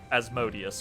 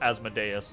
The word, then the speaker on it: Asmodeus: from Mephistopheles is like as asmodius or asmodeus depending on on your pronunciation um like mess pistopheles